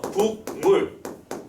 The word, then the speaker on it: 국물: 뭐 이런 거 국물 이라고 하는 거 발음 어떻게 하지? 국물이라고 발음하지, 그지? 국물. 우리는 이걸 어떻게 외웠냐면 인접한 비음의 영향으로 앞에 있는 기역, 파열음의 기역이 이응으로 바뀌었어요 라고 설명합니다.